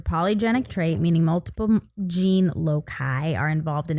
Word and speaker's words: loci: Yeah, but that's why I gave it a hard C.